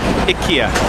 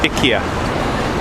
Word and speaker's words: IKEA: Where I'm from in Canada, we call it IKEA. Japanese people call it Iikia." I'm right. Huh? They're wrong. Correct. And she said incorrect. It is pronounced Iika in Sweden. Ika.